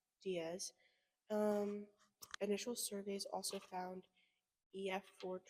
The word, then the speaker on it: Diaz: other in, what did we say that it's pronounced? Diaz.